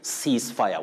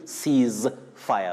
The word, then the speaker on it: ceasefire: of the vocal cords so you say cease fire what we should avoid is saying seize fire seize fire is inaccurate so over to our